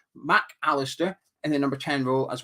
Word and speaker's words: Mac Allister: It's hard to say his name without saying it as one word, isn't it? It's tempting to just say McAllister. Mac Allister in the number 10 role, as well as Pascal Gross as well.